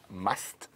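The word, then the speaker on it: musth: in a heightened hormonal state called must, and it's spelled M-U-S-T-H, and the female has to be an estrus.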